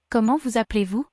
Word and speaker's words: Comment vous appelez-vous: The T of comment is silent. The S on the first vous is heard because it's followed by a vowel. There is only one L in appeler, so the E is making an sound. And the EZ of appeler makes an A sound. The S at the end of the phrase on vous is silent.